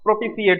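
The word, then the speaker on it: propitiate: तो इसका सिनोनिम्स हो जाएगा फ्लैटर, ठीक है, या प्रोपिशिएट, ठीक है, टी आई है तो सी यहाँ पे प्रोनाउंसिएशन होगा, तो फ्लैटर और प्रोपिशिएट हो जाएगा, सिनोनिम्स इसके हो गए।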